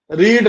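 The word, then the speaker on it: read: रीड रेड रेड रीड रेड रेड spelling same होती है। आर इ ए डी आर इ ए डी आर इ डी उच्चारण बदल जाता है।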